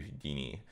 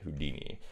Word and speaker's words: Houdini: fluid nodes, because these are relatively new to Houdini. Why did I say it like that? Houdini.